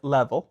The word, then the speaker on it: Leavel: Is it Leavel? Level. Level. Mm-hmm. Yeah, Beth Leavel.